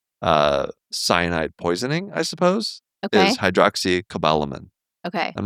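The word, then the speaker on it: hydroxocobalamin: It's not hydroxycobalamin. It's hydroxycobalamin. Yes. Which makes I feel like I've been saying that. To say not a min.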